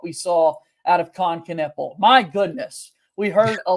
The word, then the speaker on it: Knueppel: Yeah, I mean, it's a good thing Knueppel rhymes with triple because you're going to be hearing that a lot this season.